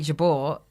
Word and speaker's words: Jabour: and I thought and I said it's Jabor and thought it was I think a little bit funny to use the original or I was just testing it out using the actual pronunciation but of course it's stuck because you tell someone what your name is they believe you what your name is and so I've been Jabor ever since and um for many